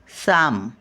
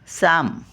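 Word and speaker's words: psalm: टी एच एम एथेम एथेम म्हणजे स्तुती स्तोत्र साम पी एस ए एल एम पी एस ए एल एम साम साम म्हणजे अभंग prayer P आर ए वाय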